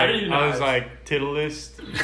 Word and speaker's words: Titleist: titleist. Like you said, titleist, but it's titleist.